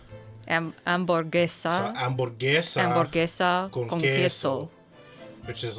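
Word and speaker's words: hamburguesa: amoressa yes amesa uh H sounds are silent ah uh so amb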